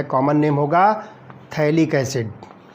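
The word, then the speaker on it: phthalic: इसमें जो है PH जो है साइलेंट होगा तो हम इसको जो है थैलिक एसिड कह रहे हैं।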